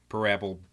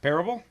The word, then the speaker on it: Parable: to come in handy you put the wrong emphasis on the wrong salable what is it what's the name of the game Stanley Parable okay Parable Parable this game is